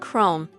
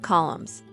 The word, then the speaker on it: Chrome: was Google not goggles and chrome not columns but her Corrections only